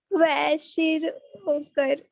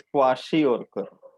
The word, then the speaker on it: kwashiorkor: Kwashiorkor. ये वाशी नहीं है, जस्ट क्वाशी और कर, के साइलेंट नहीं है।